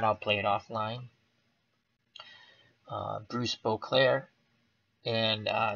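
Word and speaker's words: Boisclair: I was calling Boclair Bose Claire Abbas Claire army and he said the S is silent I took his word for it thank you very much so Bruce Boclair was one for three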